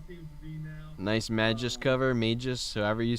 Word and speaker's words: Magus: Nice Magus cover, Magus, however you say it. Yep, so Nobody knows how to say it. Is it Magus or Maggot? Magoose. The Magoose. There you go.